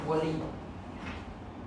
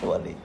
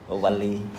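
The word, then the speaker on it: WALL-E: C'est ma prononciation qui n'est pas bonne. C'est ça le le mot français. En français, c'est Wali. Wali.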